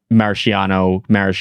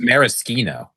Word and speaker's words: maraschino: And is it maraschino, Ziggy? Yeah, no, it's not. What is it? It's maraschino.